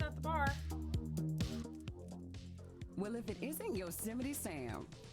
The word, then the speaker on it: Yosemite: I used to pronounce it Yosmite instead of Yosemite.